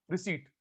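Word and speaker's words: receipt: जब रिसीट, फिर रिसिप्ट बोल रहे हैं, रिसीट, पी साइलेंट होता है।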